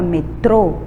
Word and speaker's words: metrô: aqui a palavra metrô na palavra metrô o som mais forte é o troco e como ele fica bem na última sílaba que tá até com